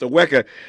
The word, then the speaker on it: Aweka: It's spelled Awake, awake, but it's pronounced Aweka.